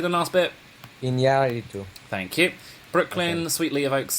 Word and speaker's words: Iñárritu: Iñárritu.